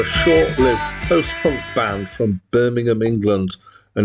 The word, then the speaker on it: Birmingham: short-lived post-punk band from Birmingham England and you can tell it's England when I pronounce it like that rather than Birmingham um uh they existed